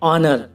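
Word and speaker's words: honour: white माने सफेद वाट वाट माने क्या और ऑनर और ववर में देखो गाइस एच स्टार्टिंग में है तो ये एच साइलेंट है ऑनर माने इज्जत और ववर माने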